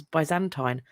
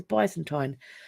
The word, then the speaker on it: Byzantine: period which I think some people pronounce Byzantine but I've always heard it as Byzantine that so this is